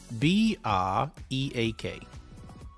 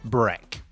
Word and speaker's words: break: How do you pronounce this word? B-R-E-A-K. Not break. Okay? The pronunciation is break. Always has been, always will be.